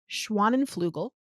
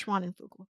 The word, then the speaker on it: Schwanenflugel: get this wrong, and I believe her last name is pronounced Schwanenflugel. great job. Thank I you. don't know though. I believe it's Schwanenflugel.